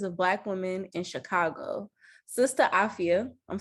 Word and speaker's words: Sista Afya: Um, and she is a community mental wellness change maker who leads Sister, let me make sure I'm pronouncing this right. Absolutely. Afia. Sister Afia.